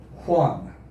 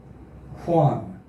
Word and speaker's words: Juan: not juan it's pronounced juan juan the j sounds like an h in english fun so again john